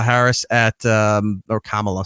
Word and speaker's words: Kamala: had an interview with Cala Harris at um or Kamala sorry I get yelled at for saying it wrong kamla Harris in Detroit uh